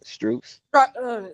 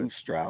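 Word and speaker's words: Strus: yeah, Struz, Yeah, I So like that. now who gonna play the four if Bam playing the five? Struz Not Strauss.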